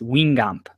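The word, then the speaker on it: Guingamp: Matt, for your reference, it's Wingamp, I believe, is how it's pronounced. I heard that one time on another podcast. So for future reference, and that may be incorrect too, but at least it's a little bit closer.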